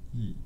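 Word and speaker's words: 逸: E, pronounce E.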